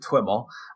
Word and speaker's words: TwiML: with so it's a twiml yeah we we pronounce it twiml so it's twilio XML so let's say that